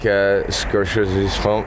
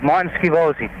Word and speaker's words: Scorsese: Do you like Scorsese's films? Yeah, Martin Scivoli. All right, so I mispronounced the word.